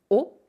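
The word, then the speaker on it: を: Et ici, pourquoi est-ce qu'on a mis la particule o, donc qui s'écrit wo, mais qui se prononce o?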